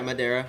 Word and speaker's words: Madera: Madiraa. Yeah. Madera.